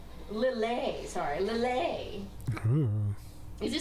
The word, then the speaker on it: Lillet: Oh, it is pronounced Lily. Lillet, sorry, Lillet.